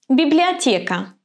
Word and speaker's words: Библиотека: Библиотека. Is ye here stressed or unstressed? Ye is stressed. You can see a special mark over it. And what about the pronunciation? Right, we're going to pronounce it ye.